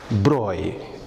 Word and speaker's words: Broglie: Then, in the year 1924, there comes a French theoretical physicist called Louis de Broglie, pronounced as Broglie, a French pronunciation.